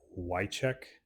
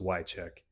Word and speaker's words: Wieczorek: And I believe her name is pronounced Wycheck, spelled like WieczoREK.